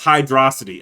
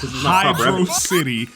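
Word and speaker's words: Hydrocity: Thing was handed to you on a platter to be able to pronounce this right. All the evidence there is concrete and supported and y'all still refuse to say this correctly. It is Hydro City and we're going to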